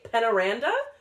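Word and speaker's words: Peñaranda: Penaranda. Penaranda, I think is how you say the last name.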